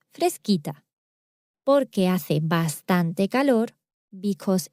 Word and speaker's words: fresquita: that would be pronounced frescita or fresita. So to keep the same pronunciation as the original word, fresca, we need to change that C for QU. And now it's pronounced fresquita.